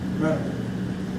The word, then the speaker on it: Mentor: I went to Mentor Public Schools, born and raised in Mentor. That's how we pronounce it, Mentor, not mentor.